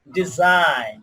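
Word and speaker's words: design: তো আইজিএন থাকলে তার উচ্চারণ আইন হয়। আইন কি হয়? আইন। এক্ষেত্রে জি অনুচ্চারিত থাকে। যেমন ডিজাইন, কি বলতে পারি?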